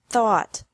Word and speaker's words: thought: fought seek sought sought teach taught taught think thought thought remember that the G is silent in these verbs verbs with three different